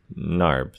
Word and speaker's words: Knarb: It's Knarb. The K is silent.